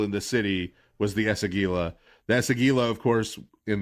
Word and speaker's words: Esagila: The first and most important of which is the renovation of the Esagila, which I pronounced correctly this time. You guys heard our pre-show. I'm an old man. So the renovation of the Esagila.